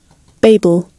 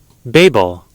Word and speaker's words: Babel: as those so this is the British one Babel Babel and then Babel that's the American but then there's also Babel Babel okay yeah so we can now I